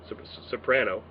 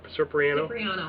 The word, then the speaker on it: Cipriano: 5 46 which is Joanna soprano or it was it's pronounced again supra Cipriano cipriano I'm sorry Joanna cipriano case number 5 47